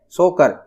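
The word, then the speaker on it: Tso Kar: है 100 मोरी और एक है सो कर इसमें टी साइलेंट है 100 मोरी और सो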